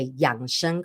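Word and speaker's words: 养生: right I choose to see it as a young Shan culture right a lot of you guys are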